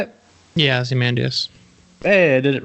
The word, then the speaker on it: Ozymandias: Yeah, Ozymandias.